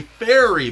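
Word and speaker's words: faerie: This is called a fairy, but it's spelled F A E R I E.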